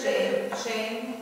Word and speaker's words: Shem: Shabbat, Shalom, Torah, Shem, Shame. Either way is right. Remember we talked about this double dot can be either pronounced the same as a triple dot, or it can be more, do the two versions. Shame, or Shem.